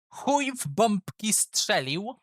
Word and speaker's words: Chuj w bombki strzelił: Our first contestant will be Chuj w bombki strzelił.